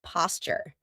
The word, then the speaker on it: posture: Grace used to be a dancer, so she has wonderful posture. Notice how I pronounce it, posture. That's because a t and a y sound together make a ch sound like in Tuesday. and tuna.